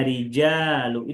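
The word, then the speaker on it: رجال: Nah, perhatikan pengucapan rijalu. Kalau dibacanya rijalu itu sudah betul ya. Cara baca rijal panjang itu betul ya. Berarti setelah jim harus ada alifnya.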